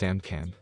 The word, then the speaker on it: AMCM: The anti-magic countermeasure AMCM, pronounced AMCAM, was a special barrier that protects the Synfaxi from any known magical attack that was used by the three factions.